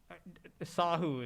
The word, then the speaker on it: Sahu: Sahu is typically how I do it, but since I'm okay with either. So Sahu is how I normally call myself, not Sahu, Sahu.